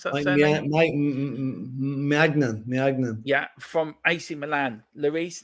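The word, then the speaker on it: Maignan: How do you pronounce that surname? Mike Magnan.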